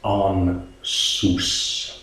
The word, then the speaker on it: Ansuz: to me so yeah what would pronounce Steven as on soos and again quite a little description on how to pronounce it so Austin is associated